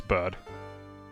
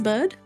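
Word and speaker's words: Byrde: I'm Sorry Miss bad bride how is this pronounced it's bird it is bird it is bad yeah cool I'm above bourbon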